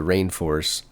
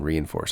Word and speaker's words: Reinforce: I think it's Rainforce, Isaac, rather than Reinforce. I've been reading it Reinforce for years, but I'm pretty sure they pronounce it Rainforce. Wow. There's some older spellings of Rainforce that spell it Reineforce. And I think that's a better spelling. Let you know that it's Rainforce and not Reinforce.